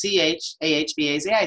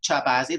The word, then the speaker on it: Chahbazi: about my last name how do you say that well it's ch aah ba Zi so most people would think chop Ozzie like a chili can chip right or you were wondering